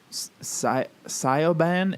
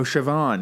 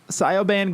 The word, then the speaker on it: Siobhan: where did it go sigh sigh Obon is there wait there's probably like a British Way of pronouncing that yes man Kevon Oh Siobhan yeah yeah okay right sigh oh man so SIA ban Grogan she said I